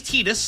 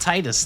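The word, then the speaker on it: Tidus: Do I do His name is Tetus. I will be calling him Tetus. Uh that is because that is the correct way to pronounce his name as has been established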